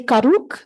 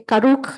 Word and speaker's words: Karuk: Her PhD is from Berkeley's Department of Environmental Science, Policy and Management, where she had the Karuk, is that how you say it? Okay, Karuk UC Berkeley Collaborative, a group supporting the Karuk tribe's ecocultural revitalization strategy in Northern California.